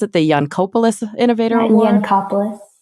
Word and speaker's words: Yancopoulos: How do you pronounce it? The Yancopoulos Innovator Award? Yancopoulos Innovator Award.